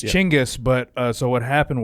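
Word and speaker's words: Chinggis: main generals of uh of tein yeah uh chingis apparently gangas European mispronunciation gangas it's Changas it's Changas CH it's chingis but uh so what happened was in France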